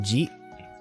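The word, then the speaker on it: じ: So, in terms of pronunciation, this would be za, like, you know, zawardo, zi, zi, zi, which is more pronounced like ji.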